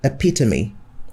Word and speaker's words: epitome: many syllables they contain the first word is epitome how many syllables are there a peak to me just